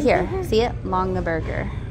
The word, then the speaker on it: Longaberger: Longaberger. Oh, it's literally how it looks.